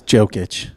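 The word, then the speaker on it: Jokić: It is Jokic.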